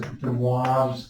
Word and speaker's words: de Moivre: So this is actually known as de Moivre's theorem, another terrific French mathematician. So if I can spell it right, but who knows, it's French, right?